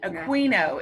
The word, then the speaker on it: Aquino: Aquino is how you say that.